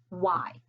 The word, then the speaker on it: why: okay we read it y because when we see the digraph w h together remember that h is silent and it takes on